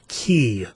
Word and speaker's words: Qi: a wireless charging protocol called key which is spelled qi I always thought wireless